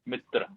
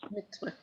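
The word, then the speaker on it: मित्र: Mitra. Okay. Mitra. Mitra. Okay. Yeah, when you write using the English letters, you can write an A, but you won't pronounce it. It's not mitra, it's mitra.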